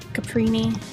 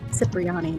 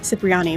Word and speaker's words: Cipriani: A Miss Caprini will be there. I said that wrong. Cipriani, that is how you say that.